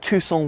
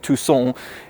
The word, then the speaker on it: Tucson: know in the UK and Tucson which really sounds French to me so therefore I could have gone with I reviewed you Hyundai Tucson just flows a little